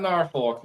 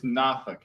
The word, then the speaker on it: Norfolk: Not Norfolk. It's Nafk. What is it? Nafk. That's Nafk. Nafk.